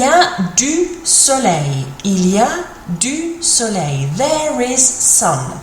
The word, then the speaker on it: il y a: Il, like an eel, il, and then ia, like an ear.